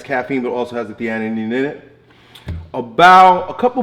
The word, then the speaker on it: theanine: If I drink coffee, I have to use theanine, say it right, theanine with it because it kind of like calms my nervous system down a little bit.